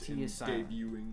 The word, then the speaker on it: debuting: show debuting debuting debuting they'd be debuting the t is silent debuting okay i um